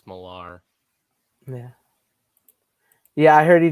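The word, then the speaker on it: Millar: how you pronounce it I'm pretty sure it's not Miller people keep saying Miller it's like no it's malar yeah yeah I heard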